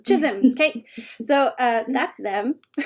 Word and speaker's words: Chisholm: Kate Kate how do you say your name Chisholm Chisholm okay so uh that's them hopes books hope